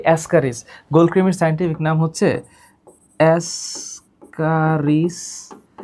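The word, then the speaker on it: Ascaris: তো সিম্পলি উচ্চারণ কি? অ্যাসকারিস।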